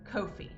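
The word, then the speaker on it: Ko-fi: Aunt I looked up the pronunciation today is pronounced Kofi I select Kofi better but that's not their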